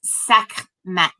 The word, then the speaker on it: Sekhmet: It's pronounced Sekhmet. Okay. So the H is in the back of your throat, just so you know.